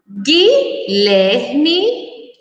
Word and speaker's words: Guilherme: Foguete, guepardo, Guilherme, guincho, Miguel. Então, essas são as palavras que nós, quando pronunciadas, não escutamos o som da letra U, que exatamente como mangueira.